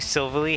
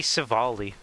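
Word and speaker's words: Silvally: Cuz I used to pronounce it as silverly. And then I realized no, it's meant to be SALI because it has all types, you know.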